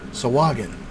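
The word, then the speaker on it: Sahuagin: Sawagin.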